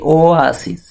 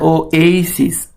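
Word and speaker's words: oasis: তারপর বলছে the floral form of দ্য ওয়াসিস, ওয়াসিস, এটার উচ্চারণ হচ্ছে কি ওয়াসিস, ওয়াসিস, মনে রাখবেন। আবার এটাও বলা যায় ও এইসিস, ও এইসিস, এটা হচ্ছে সঠিক প্রোনাউন্সিয়েশন মানে উচ্চারণ।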